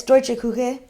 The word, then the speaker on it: Deutsche Küche: Can you pronounce that? Because I couldn't. Yeah, it's Deutsche Küche.